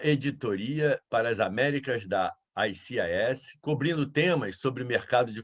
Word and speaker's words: ICIS: Vamos iniciar, então, trazendo para vocês a nossa parceira, a ICIS, que, na verdade, agora a pronúncia correta é ICIS.